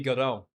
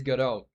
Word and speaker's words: Godot: translates to like very well, it would be Godot.